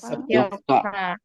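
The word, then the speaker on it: よっか: dan Yoka.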